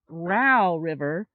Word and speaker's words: Row River: And we just found out that it's now pronounced Row River because it says it rhymes with cow.